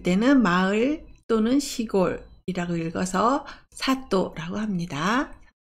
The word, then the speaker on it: 里: 훈독은 사또라고 읽습니다.